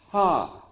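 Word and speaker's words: ה: So when you say the letter Hey, it's actually pronounced in Hebrew, ha, which is pure breath.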